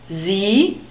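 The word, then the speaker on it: Sie: it's a formal talk z also contains this ee d foam which is a long e sound so we have the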